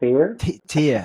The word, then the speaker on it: Theyr: Make sure I pronounce that right. And yeah, Fear? Theyr.